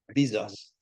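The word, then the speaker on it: Bizos: so look you you look up George Bezos it's spelled b i zos Bezos he's a he is a great great uh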